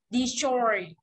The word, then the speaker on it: destroy: Mà trọng âm rơi vào choi này, thì chắc phải đọc this, this, rất nhẹ thôi. Destroy.